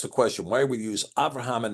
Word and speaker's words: Avraham: Okay, Cloud asked the question, why we use Avraham and not Abraham in the Cepher? And it has to do with the pronunciation of the bait in the word, in the bait.